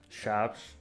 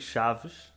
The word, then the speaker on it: Chaves: Eu digo Chaves, não é? Chaves. Tu dizes Chaves. assim mais... Não é um B forte, mas é um ligeiro B. E depois o pessoal mais das aldeias e o pessoal mais velho diz... Chaves.